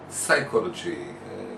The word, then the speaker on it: psychology: question uh regarding psychology psychology you don't pronounce the p don't philosophy okay psychology